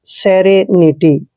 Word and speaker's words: serenity: दोस्तों एस का उच्चारण हमेशा से करते हैं और ई को ए की मात्रा पढ़ते हैं। आर का उच्चारण हमने रे करना है, ई को ए की मात्रा पढ़ना है, और एन को न पढ़ते हैं, आई को फिर से ई की मात्रा पढ़ना है, और TY को आपने टी पढ़ना है, सेरेनिटी।